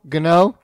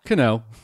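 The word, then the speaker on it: Canó: Cano? Gano? Cano. Well, there's a soft G in front of it. Yep. Good Cano. It's definitely Cano.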